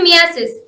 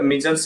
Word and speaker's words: measles: तो पहला मेरा सवाल आपसे ये है कि ये मियासिस यानी कि खसरा बीमारी है क्या? जी मैम, पहले तो मैम इसको एक्चुअली प्रोनाउंस मीजल्स करते हैं हम लोग, जिसको हम कॉमन भाषा में खसरा भी कहते हैं।